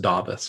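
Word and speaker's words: Dāvis: Burton's 5% then Luke corn novice its it's pronounced da bus by the way old Davey Burton's that Luke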